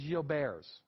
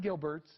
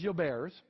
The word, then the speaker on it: Gilbert: It was named by a French physician. All right. The correct pronunciation is Gilbert's. It is not Gilbert's. It is Gilbert's.